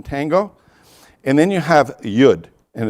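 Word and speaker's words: yod: and then you have yud and it's spelled y o d but it's and it's y as like in yellow uh but it rhymes with wood so you say yud then you have cough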